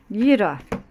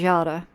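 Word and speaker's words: Jera: I know that they've written it as Yara. You can say it either way, okay? It just depends on what region you're pronouncing this from. I call it Yira, right? That's just the way that I learnt it.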